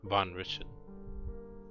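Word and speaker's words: Van Richten: the DM mispronounce it it's richon not Rick Rich richio no no no it's ravio and The Wizard is richon Von richon not it's v n space r i c h t n richon richon okay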